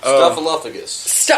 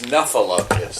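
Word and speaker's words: Snuffleupagus: Stuffaluffagus. Yes. And he's saying Stuffaluffagus. It's Stuffaluppugus. It's Snuffaluppagus.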